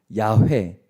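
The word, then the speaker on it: 야훼: 참 안타까운 일이지만 사실이에요 그래서 할 수 없이 성경학자들이 연구를 거듭한 끝에 찾아낸 발음이 바로 야회 였어요 우리 성경에는 여호와라고 기록되어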